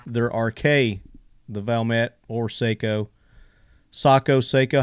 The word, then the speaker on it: Sako: rk the valmet or seiko sako seiko how do you say that some people say seiko some people say psycho well officially at saco but we're americans we can say seiko camino nobody stopped me